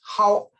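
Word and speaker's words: 昊: It's pronounced Hao, so together Hao Tian, and it means majestic sky, majestic heaven.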